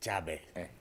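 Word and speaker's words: Tchabè: Vous savez, j'aime bien comment les gens prononcent Savet. Enfin, pour le commun des Béninois, ils disent Savet. Oui. C'est ça, hein? Mais pour le Tchabet lui-même, ce n'est pas Savet, c'est Tchabet.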